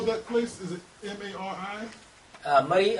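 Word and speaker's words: Murree: Murray, actually, spelling is different. M-U-R-R-E-E. Murray. Because of our, it's like a language, dialect. Yes. So we can call it Mary. Murray. So Mary is changed to Murray.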